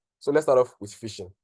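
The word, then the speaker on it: phishing: wondering what is fishing it sounds like sounds like fishing basically like f i no I didn't get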